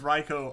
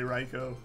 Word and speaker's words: Raikou: what system I can play everything on Japanese pronunciation says it's Reiko oh I'm very aware of that one that's why I do say raikou it's all the you is doing is extending